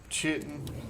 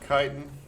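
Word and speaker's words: chitin: We're also going to need a lot of chitten or kiten, however you want to pronounce it. I've heard it pronounced both ways.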